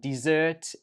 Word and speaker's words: desert: So this one here is pronounced desert, desert, desert, and the stress goes on the first syllable, desert.